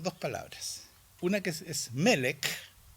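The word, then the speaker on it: מֶלֶךְ: y quiero contarles que melek tiene dos Está compuesto por dos palabras una que es melek melek si tal cual suena con k final Qué quiere decir Rey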